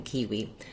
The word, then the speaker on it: kiwi: so first of all kiwi has first syllable stress and because it's not a typical pronunciation for english the letter i does say e in kiwi normally letter i would